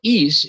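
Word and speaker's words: εἷς: in mark 29 is East I'm using the modern Greek pronunciation it's one single it's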